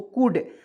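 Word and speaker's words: could: तो देखिएगा यहाँ पे दोस्त मेरे, इसमें एल को साइलेंट रखेंगे तो इसको एल को काट दीजिए, तो CO से देखिए COU से होता है, देखिए सी से क लिखेंगे, यू का प्रयोग कर दीजिए यहाँ पे छोटा ऊ की मात्रा, डी से ड, तो क्या पढ़ेंगे दोस्तों कुड, COUD कुड, इसमें ओ भी, इसमें देखिए ओ को भी साइलेंट कर लीजिए, इसमें ओ को भी साइलेंट कर देना है, ठीक है, दोनों को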